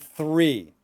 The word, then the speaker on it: three: So we have free and three. Now, for some people, not so difficult. Free and three. Free and three. And really, it's the TH sound that a lot of people have difficulty.